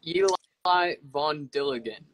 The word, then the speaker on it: Eli Von Dilligan: Oh, it's Eli Von Dilligan. But he also just goes by Vondi, probably because it's so difficult to say. Okay. Yeah, I think I was just putting my emphasis on the wrong syllable.